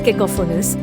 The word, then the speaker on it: cacophonous: to play their instruments to correctly pronounce cacophonus accent the second syllable qh coffiners it is